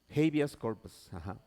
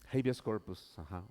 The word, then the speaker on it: habeas corpus: Habeas corpus. Habeas corpus.